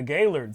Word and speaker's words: Gaillard: Correctly pronounced, it is the Gaillard Center. Now, you know what? If people said Gaillard, because the L-A-R-D, if they said Gaillard, I'd be like, I understand it's Gaillard, but okay.